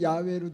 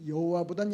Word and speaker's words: 야훼: 거 같아요 히브리 성경에는 야외로 돼 있는데 옛날 발음이 여호와보던 야외가 더 정확하다고 그러니까 그건 세계적으로 통영이 되는데